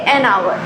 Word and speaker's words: hour: Because the H is silent in hour, we say an hour.